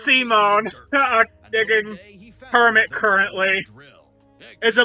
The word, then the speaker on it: Simon: It's pronounced Simone.